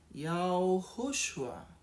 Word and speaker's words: Yahushua: Quando você for pronunciar o nome do filho, você vai dizer simplesmente Yahushua. Porque o nome do filho tem uma palavra shua, que é salvação em hebraico, porque é Yahu que salva.